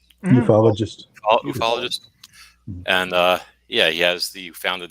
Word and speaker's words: ufologist: And he is on Wikipedia an American how do you pronounce it? Ufologist? Ufologist.